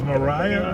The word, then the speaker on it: Maria: Whether it's, I think it would be, it's always Maria, right? Because it's spelled Maria, but it's always been pronounced Mariah.